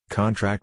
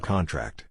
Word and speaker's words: contract: Stress on the last syllable is a verb. Examples: contract and contract. The former is a noun, sign this contract, whereas the latter is a verb, the muscles contract.